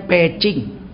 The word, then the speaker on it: Beijing: Sampai di Peking, orang sini bilang Beijing, sebetulnya bacanya Peking. Orang dulu bilang Peking, bebek Peking. Zaman Orde Lama namanya Peking. Sekarang karena tulisannya ditukar jadi Beijing, orang Cina kalau itu dibaca peh. Kalau J dibaca ceh. Jadi Beijing itu bacanya Peking.